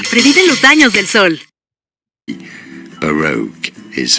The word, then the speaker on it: Baroque: Bokura. Bakura. Baroque. Baroque. Mientras ves este anuncio, aplica protección solar sin dejar tu piel con una sensación pegajosa. Previene los daños del sol. Baroque is how Baroque.